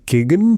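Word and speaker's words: Keoghan: There is Barry Keegan Keegan I think that's how we pronounce his name and bunch of great actors and supporting cast.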